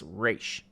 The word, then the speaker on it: Ra's: So they figure out that Shredder and Ra's al Ghul, which is actual pronunciation of his name, it's not Raz, it's Ra's.